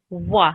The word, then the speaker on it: و: So the pronunciation of this letter is wa, like a W.